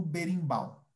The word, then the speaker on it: berimbau: e caxixi, dobrão, baqueta, partes do uso do berimbau. Ok? Como está a prática da pronúncia de vocês?